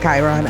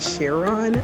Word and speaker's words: Chiron: made a mistake and I mispronounced Chiron I said Sharon which I know what